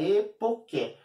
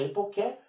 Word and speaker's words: epoché: O ser humano deve olhar para o mundo, olhar para o universo e fazer a epoké. Aqui escrito epoché, mas se pronuncia epoké, né, aqui em grego.